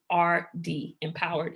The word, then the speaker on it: EMPOWRD: It's EMPOWRD, Empowered.